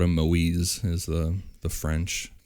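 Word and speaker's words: Moïse: Which they called him Moise as the the French the French Canadian pronunciation of it.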